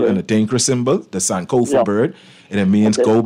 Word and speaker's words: Sankofa: SANK OFA. Okay. Flamingo. Okay. Her name is San Creole. No, it ain't Creole. It's African from Ghana, actually. Sankofa is what you call an Adinkra symbol, the Sankofa bird.